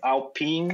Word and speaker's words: Alpine: I call it Alpine because that's how the F1 team is called. Some people call it Alpine. I think the French pronunciation is Alpine, like Vite.